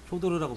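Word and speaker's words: Фёдор: 효도르라고 발음해야 되나? 한국에서는 효도르 되게 유명한데 외국에서도 유명하죠. 거기서 당연히 더 유명한 아, 거지. 러시아에서도 유명하죠. 발음을 어떻게 불러요, 근데 그건 효도르. 아, 퓨어더르. 퓨어더르.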